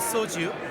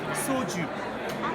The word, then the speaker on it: soju: The product you're looking at is called soju. It's the most popular spirit in Korea, just like sake in Japan. So I mispronounced by just saying that it's sake, but